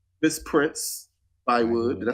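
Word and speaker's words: Prince-Bythewood: Miss Prince Bywood.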